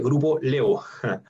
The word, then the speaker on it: Grupo Laevo: Se escribe Grupo La Evo, se dice Grupo Levo.